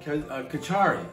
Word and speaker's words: kitchari: We're going to work on a dish called kitchari. It's spelled K-I-T-C-H-A-R-I.